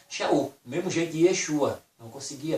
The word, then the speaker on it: Yeshua: Se fosse trazer para nós hoje Yeshua, o nome original ficaria o quê? I-E-X-U-A. Yeshua. Pelo suar da boca. Yeshua. Soa para mim como o quê? Yeshua. I-E-X-U-A. Yeshua. Soa isso.